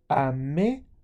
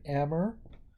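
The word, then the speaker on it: aimer: in French or Si AME La Campana so we're not saying Amber we're saying a me that ER is pronounced like a e with an exotic chocola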